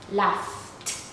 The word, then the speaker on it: laughed: Even though it's GH in spelling, the pronunciation is, so we say laughed, laughed.